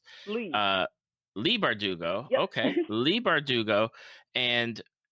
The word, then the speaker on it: Bardugo: I believe that's how it's pronounced. Leigh. Uh, Leigh Bardugo.